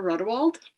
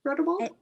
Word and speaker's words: Rodewald: My first is It Will Be Forever by Jennifer Rodewald. Did I say her name right? Rodewald? That's how I say it.